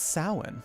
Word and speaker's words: Samhain: I learned how to pronounce that word correctly due to the Europeans who frequent this chat. Because it's Samhain.